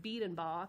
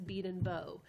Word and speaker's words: Biedenbow: We have our funny pronunciations in different communities across the state, because I had always heard it Biedenbaugh, because I know people in Lawrence and Newberry who are Biedenbaugh, but in Batesburg-Leesville, it's Biedenbow.